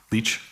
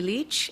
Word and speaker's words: Lich: commissioner the next witness is uh Tamara leash Leach Ms Leach will you swear on a